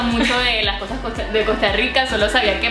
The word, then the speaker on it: Costa Rica: yo sé es que pronuncian la R más o menos así, ¿no? Rica. Chica. ¿Cómo es? Chica. ¿Cómo es? Ay, pues madre, es diferente a como yo pensaba. Costa Rica. Chica. Más como una medio che.